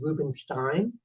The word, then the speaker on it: Rubenstein: Um, the first thing that I have to tell you, my last name is Rubenstein. It rhymes with Brooklyn.